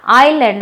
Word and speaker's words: island: Though the spelling is start with is, means I-S-L-A-N-D, you have to pronounce it as island, not island. Okay?